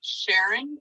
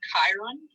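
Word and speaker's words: Charon: can see pluto and most people pronounce this as sharon or chiron there's nyx styx hydra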